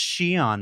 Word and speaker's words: Xi'an: to comments and say, it's pronounced Xi'an, Mark, get a better hobby. Oh, I'll say you'd be correct.